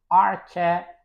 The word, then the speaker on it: archipelago: And next word is archipelago. Archipelago. And again, as you can see, I have added this line to show that the stress is on let's say that on the third actual syllable.